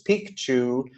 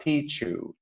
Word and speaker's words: Picchu: famous Machu Picchu and that is the correct pronunciation it's Pikachu not Pichu and so what you're going to see is